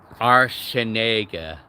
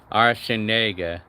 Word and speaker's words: Arsenega: Yeah, Arsenega. It's actually pretty simple. Well, actually, it's a four-syllable word. And it's like, it goes arsen, like arsen, egg. Yeah, egg, like eggs.